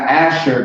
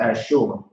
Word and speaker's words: Asher: all right sure that's sure not asher but actually that's how you pronounce it as sure now as sure asher